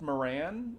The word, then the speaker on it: Moran: no so uh Dan I think it's pronounced Moran is how he pronounces his name Dan Moran yeah we